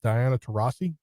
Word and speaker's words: Diana Taurasi: Excuse me for pronouncing her name wrong, but Diana Taurasi, is that how you say it?